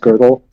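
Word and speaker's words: Gödel: G's theorem of G O D E L like you can call him Godell but like it's like it's pronounced girdle but there's no R in his name.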